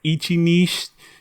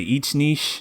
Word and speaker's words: Ichi Niche: about uh pronouncing that do we want to say Ichi Niche do you want to say each Niche you want to say Ichiban Niche it's two syllables for Nichi wait is that good